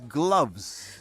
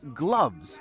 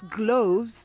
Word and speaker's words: gloves: right about that but it's gloves like doves not gloves like loaves you're right it originates